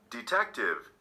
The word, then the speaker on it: detective: second syllable number 19 detective detective three syllables did you mark the second syllable number 20 independent independent